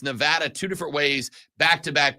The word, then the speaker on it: Nevada: is from Nevada and she has repeatedly corrected me that that is Nevada I spent probably 34 years of my life saying Nevada and then I was told by someone from Nevada that it's Nevada and in Nevada they say it Nevada it's Las Vegas Nevada